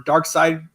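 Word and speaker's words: Darkseid: add us on facebook we're dark side dark side spelled like the superman character d-a-r-k-s-e-i-d paranormal society um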